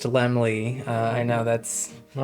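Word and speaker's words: Laemmle: Lord Albert Lemley and it is pronounced Lemley. Uh, I know that's not lamel.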